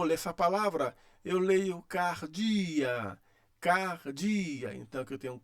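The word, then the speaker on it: καρδίᾳ: Eu leio cardia, cardia.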